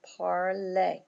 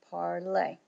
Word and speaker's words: parler: And this, the accent over the E tells you that you're to pronounce that E like a long A. Notice I'm saying parler, parler.